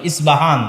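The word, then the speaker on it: Isfahan: ইস্পাহান থেকে বের হবে ইস্পাহান হচ্ছে ইরানের নগরী আজও ইরানের মধ্যে ইসপাহান নামে সেই নগরী আছে আমরা প উচ্চারণ করি ইসপাহান আরবিতে এটা উচ্চারণ হয় না আরবিতে হয় আল আসবাহানি বা উচ্চারণ হয় ইসবাহান বাসবাহান সেখান থেকে 70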